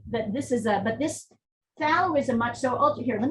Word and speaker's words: phthalo: We kind of pronounce it like TH, phthalo. I mean, you can say phthalo, but often phthalo is how people sort of shorthand it.